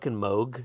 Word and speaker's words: Moog: first time somebody's like it's moog you're like okay yeah okay yeah wow yeah